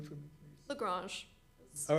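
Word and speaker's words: La Grange: Lagrange. All right. Yeah, it's Lagrange. fine. I mean, not the French.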